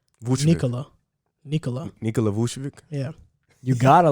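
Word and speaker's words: Vučević: That's the same way how you pronounce Vucevic's name. Vucevic.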